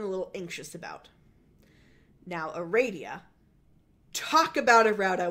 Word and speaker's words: Aradia: having a radio tell us her name is pronounced Aradia which is a baller move